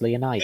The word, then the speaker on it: Leonidas: Leonidas, Oh, that's how it's pronounced, Leonidas.